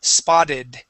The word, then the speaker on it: spotted: The only time when we pronounce the E is with words that end with a T, like spot, okay, or with a D, like fade. Okay, so for example, this word is spotted.